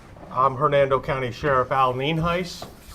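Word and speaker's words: Nienhuis: for showing up i'm hernando county sheriff al ninhais it's spelled n-i-e-n-h-u-i-s and it's pronounced nien heiss we also have a couple individuals here that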